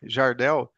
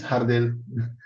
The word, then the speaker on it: Jardel: you repeat that you in Portuguese is jardel but in English J no problem and in Spanish is hardel yes that's different pronunciation